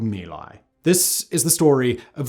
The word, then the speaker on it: My Lai: place in Vietnam, near a quiet hamlet called My Lai. This is the story of the My Lai Massacre, sometimes mispronounced Mai Lai Massacre, the most shocking episode of the Vietnam War.